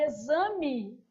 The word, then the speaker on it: exame: Na palavra exame, som de Z.